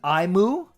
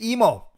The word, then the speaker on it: Emo: the first two dang it's indeed emo I say it clay emo Finding Nemo that is how you